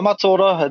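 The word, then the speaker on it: mataora: Well, my matora, that's how you say it. Mata is the face, and ora is the life.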